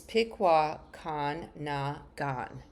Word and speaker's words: Pikwakanagan: Oops, let me pronounce that again. It's Pikwakanagan First Nation.